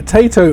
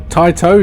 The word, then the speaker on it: Taito: So looking at the games that are pre-installed onto the Evercade Alpha, so this is the Tato edition, or Taito if you prefer to pronounce it that way.